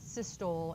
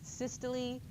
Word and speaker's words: systole: It's not systole and diastole. That's what it looks like, right, if you sound it out phonetically, but it's systole and diastole.